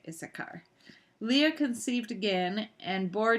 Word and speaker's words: Issachar: I think that's how you say it, Issachar.